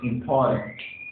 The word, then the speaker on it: important: Yes, important. Important as the stress and the second syllable.